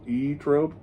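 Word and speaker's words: Zoetrope: both of their records it says pronounced e trope really but that's stupid we're not doing that here right there pronounced e-trope oh you're right i'm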